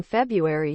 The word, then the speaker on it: February: go swish swish swish I believe strongly that the r in February should be pronounced but that doesn't mean